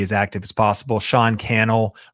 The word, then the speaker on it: Cannell: Sean Cannell, Rhymes with YouTube channel.